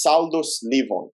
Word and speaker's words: Saldus SS/Leevon: club fully pronounced properly can you can you pronounce it for us yes saldo sliver amazing amazing um so it's honestly amazing to